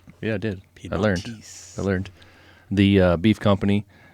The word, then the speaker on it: Piedmontese: Piedmontese.